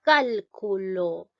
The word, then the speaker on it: cálculo: Dice cálculo. En este caso, la mayor fuerza de voz está llevando en la sílaba cal. ¿Ya?